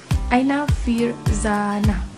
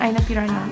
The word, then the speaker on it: Aina Firzana: So my name is Aifiana, but my full name is Aina Firzana. To pronounce it well, not Aina Firana, okay?